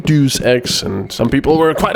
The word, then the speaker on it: Deus Ex: I know that's stupid because it's Latin, so it's Deus Ex, not Deus Ex, and some people were quite upset about that, so...